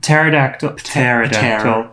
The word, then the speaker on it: pterodactyl: Next up is Tia Kofi as a pterodactyl. In Dutch, we do pronounce the P.